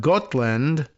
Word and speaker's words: Gotland: the Swedish island of Gotland. How's my pronunciation on that one? Gotland. Like got milk, but land, right?